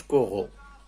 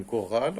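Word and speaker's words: chorals: إلا لقيتي مثلا هاد كورال، لو نون كورال ما نقولش كورو، جاية في النطق ما كورو، نو. إذا كورال غتولي لنا بأس. إكزومبل مثلا singulier كورال، pluriel كورال، كنزيدوها غير اس.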